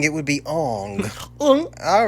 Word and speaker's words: Aang: Well, it wouldn't be Aang, it would be Ong. All right. It'd actually be Ong. Sorry, it's not pronounced Aang, it's pronounced it's pronounced Only you can save us.